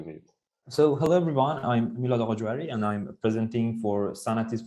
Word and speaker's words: Milad Aghajohari: The last talk of our session is the third place of the competition, Milad Aghajohari, and I'm sorry for definitely also pronouncing your name wrong. Yeah, it's Milad Aghajohari.